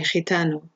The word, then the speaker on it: gitano: GI, gitano, gypsy, okay?